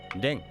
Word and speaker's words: 練: それぞれ天、絶、練、発と読みます。